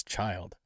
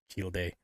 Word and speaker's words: Childe: This one is Childe, which I've been told is the pronunciation for this name, because before I was saying Childe something.